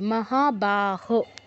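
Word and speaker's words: মহাবাহো: মহাবাহ তথাপি মহাবাহ আচ্ছা এখানে আপনার বাহের বাংলা ব এর মত উচ্চারণ হবে মহাবাহ যাদের আইডেন্টিফাই করা নেই তারা একটু ব এর ভিতরে একটা ছোট্ট করে দাগ দিয়ে নিন মহাবাহ হবে বাংলা ব এর মতো হবে না তারপর নৈব বলতে পারেন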